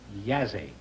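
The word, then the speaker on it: Jassy: Bucharest and Yazzie. Y-A-S-E, it's pronounced. It is spelled J-A-S-S-Y. Oh. Bucharest and Yazzie.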